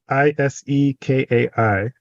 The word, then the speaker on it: Isekai: it right now, but Isekai? It's Isekai, which is very close to my spelling of my name, which in Japanese is also pronounced as the world, And so that kind of stood out to me.